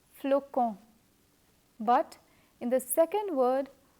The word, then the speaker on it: flocon: As per the rules of pronunciation, when the letter O follows the letter C, we pronounce the latter as K. Hence, this first word is pronounced as flocon.